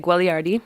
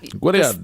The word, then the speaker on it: Guagliardi: It's Italian, so you say it Guagliardi. You could Guagliardi? Yeah. Guagliardi. The second G is silent.